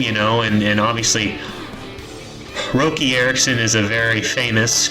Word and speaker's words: Roky: used to pronounce RI Rocky I used to call him Rocky Ericson dumbest damn thing right Roki r o k y no C so let's talk about